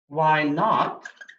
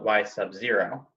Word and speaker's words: y naught: Y naught, which we pronounce y naught, please don't call it y sub 0, represents the initial amount.